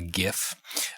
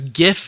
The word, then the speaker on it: GIF: had kind of a you know a a gif it was going through and it was Wonder